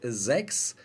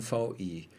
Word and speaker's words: VI: Ja, jetzt weiß ich endlich, das heißt nicht 6, sondern VI.